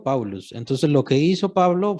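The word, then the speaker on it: Παῦλος: Pablo, ¿cómo se pronuncia en griego? Paulus.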